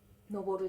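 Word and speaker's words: 登る: 登るです。覚えてますよね。登山のとって書いて登るって読みます。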